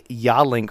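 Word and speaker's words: Yealink: if applicable but uh Ray is holding a yawlink phone that's spelled y-e-a-l-i-n-k that particular phone is probably the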